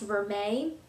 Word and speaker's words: vermeil: It looks like it says vermeil, but I think it's pronounced vermeil.